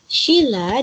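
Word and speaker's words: śila: Pancasila berasal dari bahasa Sanskerta, yang mana panca artinya 5, sila dengan i-nya, pengucapan vokal i-nya pendek, artinya batu sendi, alas atau dasar.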